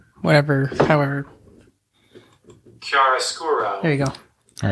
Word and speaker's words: Chiaroscuro: Chiaroscuro. Whatever, however. Chiaroscuro. There you go. All right. You want to, how do we pronounce Roald Dahl?